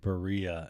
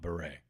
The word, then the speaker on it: Berea: Now, you know, I was today years old when I realized that it's pronounced Berea and not Beret. Okay. I thought it was Beret.